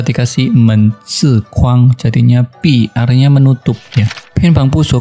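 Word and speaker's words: 闭: Cai di dalam ini juga bacanya ternyata tidak sama. Setelah dikasih men zi kuang jadinya pi, artinya menutup ya.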